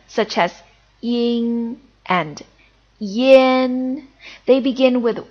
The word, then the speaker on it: yun: And this is yin, yin. It's essentially U followed by N, so it's yin.